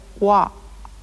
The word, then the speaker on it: は: but it is also used in sentences to represent the grammatical particle wa.